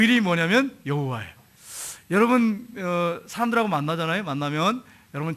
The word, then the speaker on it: 여호와: 여호와인데 야훼 이렇게 발음하는 분도 있고 야훼 이렇게 발음하는 분도 있어요. 근데 일반적으로는 야훼 이렇게 발음합니다. 근데 우리는 어떻게 발음하냐면 야훼라고 하지 않고 여호와 이렇게 발음하죠.